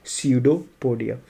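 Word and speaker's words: pseudopodia: P silent, पसियोड soda पोडिया मत बोलना, क्या बोलते हैं इसको? स्यूडोपोडिया।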